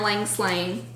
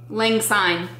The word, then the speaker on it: Lang Syne: Stitcher in her Yarn Lang Slang colorway. Lang Syne. I knew I said it wrong when I said it, and I just kept on going, hoping nobody would notice, but he noticed.